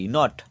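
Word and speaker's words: knot: knife মানে ছুরি আচ্ছা কে এন ও টি নট নট মানে গিট এখানেও এর উচ্চারণ নেই তারপর আছে এন এ এন সাইলেন্ট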